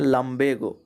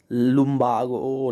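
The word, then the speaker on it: lumbago: एक और वर्ड है लंबेगो, इसको पढ़ते हैं लंबेगो। ऐसे समझिए, लंबे लड़के, यहाँ से गो, तो लंबेगो, ये है इसका प्रोनाउंसिएशन। लुम्बागो, लिम्बेगो लोग इसको अभी वही भाई साहब पढ़ रहे थे उस वीडियो में।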